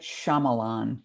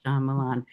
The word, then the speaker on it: Shyamalan: where with the filmmaker and I can never pronounce his name that you spoke with before oh might Shyamalan Shyamalan that he said you know well get to